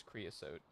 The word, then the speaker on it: creosote: Okay, it is creassote.